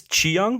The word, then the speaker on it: Cheung: So this is starring Tony Leung of the previous Shang-Chi movie, and Maggie, I'm guess Cheung because it's spelled like Leung with the CH.